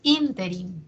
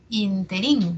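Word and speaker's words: ínterin: verificamos repítelo y luego tenemos interin no interin que yo sé que muchas veces lo pronunciamos interí me parece no en algunas personas Probablemente lo hayan escuchado en el interí y no interí sin embargo Aquí está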